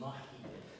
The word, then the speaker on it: Mahican: the difference between Mohican and Mahican? That's a great question. So, and I made that even more confusing. So the way the word is really pronounced in the Mohican language is Mahican.